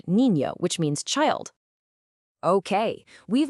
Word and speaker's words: niño: It makes that ñ sound, kind of like the one you hear in the English word canyon. You hear it perfectly in the word niño, which means child.